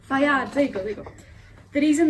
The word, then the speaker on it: Fayed: Fayad. Fayad, there you go.